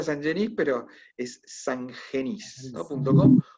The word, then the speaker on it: Sangenis: Se pronuncia Sangenis, pero es sangenis, ¿no?